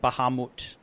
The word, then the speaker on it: Bahamut: rad Jose moot Bahamut apparently that's how to pronounce it Bahamut when I say Bahamut